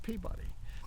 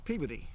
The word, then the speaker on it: Peabody: But Colonel Everett Peabody, and it's actually, in Massachusetts, they pronounce it Peabody. Peabody. But down here we call it Peabody, okay? That's just the way it is. If I say Peabody down here, nobody knows what I'm talking about.